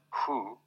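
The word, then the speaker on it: 呼: HOO, pronounced like hu, which is associated with the spleen, and XI, pronounced like shi, which connects the whole body.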